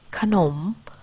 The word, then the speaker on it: ขนม: เสียง อะ กึ่ง เสียง ที่ พยางค์ หน้า เช่น ขนม อ่าน ว่า ขนม มี อร่อย อ่าน ว่า อร่อย